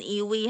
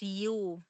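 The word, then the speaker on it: ewe: age is though and hindi yan iwi ha but but justifiable na iwi yungag ang atong pagbasa pero the correct pronunciation for that is you no yes and that's female.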